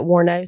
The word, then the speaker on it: Wuornos: So I am doing Aileen Wuornos. And so you're going to get some... I think you'll get my personality through this story. Now, I'll say, I've always heard the pronunciation Aileen Wuornos. Is it Wuornos?